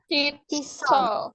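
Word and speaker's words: 칫솔: Kalau shiot ada di bawah, di bawah bukan di atas ataupun di paling depan, itu dibacanya jadi T. Jadi chisel, chisel.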